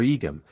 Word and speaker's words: Egum: in force in the island of yima or egum as it is pronounced in the eastern district the ster islands of